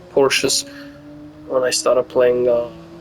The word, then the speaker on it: Porsche: think Grand Turismo five Porsche as a select Porsche Porsche as a Porsche Porsche I think I'm right the reason I'm repeating is Americans say Porsche it's Porsche um you know what